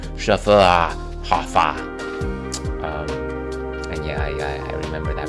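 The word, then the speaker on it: Schöfferhofer: proper pronunciation of our unusual and challenging name, Schufferhofer. And yeah, I remember that pronunciation guide.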